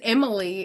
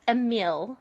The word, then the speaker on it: Emile: like what he goes he thought it was Emily and he said Emily is a guy and I was like oh it's AAL it's pronounced AAL okay so AAL yeah I'm going to tell